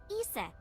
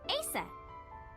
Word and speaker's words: Isis: Horus's mom is named Isis. But in ancient Egyptian, it's pronounced closer to Ise or Asa.